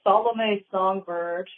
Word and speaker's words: Salomé Songbird: So, can you guys just tell us how you pronounce your band name real quick? Sure. The band name is Solomon Bird.